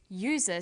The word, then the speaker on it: user: And where the vowel U is pronounced y, we use a. So we say an umbrella, but a user, because user sounds like it begins with a Y.